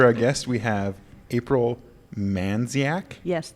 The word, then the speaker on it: Mandziak: guest we have April man dziak yes the D is silent man it's Mandy yes